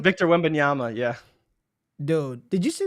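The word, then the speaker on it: Wembanyama: how do you say his last name Victor win benyama yeah dude did you see the picture of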